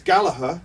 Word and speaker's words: Gallagher: Well, it's Gallagher, Yeah. but as we were Mancunians, Mancunians always pronounce the hard G. RG. Okay. Yeah, so it's Gallagher.